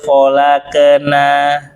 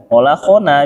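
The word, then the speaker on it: خلقنا: Atau amahum, bukan malah laqad khalaqna. Iqra bukan khalaqna. Ya, kalau jangan khalaqna lagi. Khalaqna. Nah, bacanya apa? Kholakona, dia biasa mulutnya o gitu.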